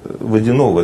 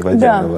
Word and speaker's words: Водянова: А, кстати, вот немножко я перескакиваю здесь по поводу ударений. Вы ведь Водянова, да, в оригинале, а не Водянова?